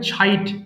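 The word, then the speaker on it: chide: slip ছাইর তিরস্কার করা দেখেন এটা চাইড বলিনি ছ বলেছি হ্যাঁ আপনারাও ছ বলবেন সো এটা হবে ছাইড সবাই বলি ছাইড তিরস্কার করা ছাইড ছিট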